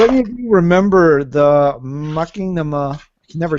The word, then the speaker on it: Machinima: Machinima, thank you for reminding me how to pronounce that, because every time I see it, I want to go Maki for some reason. Because it's like Machiavelli, the prince.